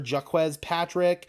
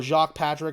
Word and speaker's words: Jacques Patrick: former XFL leading rusher jacquez Patrick or Jacques Patrick I believe it's actually pronounced and Tyrique McAllister so